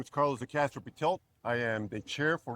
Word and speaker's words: Carlos De Castro Pretelt: Last but not least, Carlo Castro, and I know I butchered the name. So, yes. Thank you, Carlos. Good morning, everyone. My name is Carlos de Castro Pitel.